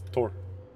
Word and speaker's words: Thor: that high level yet in Danish we don't pronounce the h and Thor yeah it's Thor it's all good I've